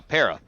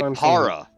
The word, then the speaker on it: Pera: yeah au pair yeah no pera most people say para if there were two r's sure following normal like